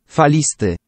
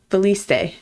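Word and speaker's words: falisty: Faliste. Faliste. Faliste. Faliste. Is undulating? Undulating in Polish is pronounced faliste. Faliste. Feliste.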